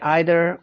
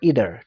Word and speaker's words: either: own a car either you can also say either or either to pronunciation for the same like either is british pronunciation either is american pronunciation like doctor and then